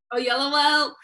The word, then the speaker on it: Oyelowo: David Oyelowo, I said it right? Yeah. Oyelowo. David Oyelowo played Martin Luther King in that film.